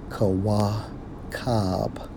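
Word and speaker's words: כוכב: When we focus on that term star, in the Hebrew, Strong's H3556, pronounced as Kawakab, and it means 1A of Messiah.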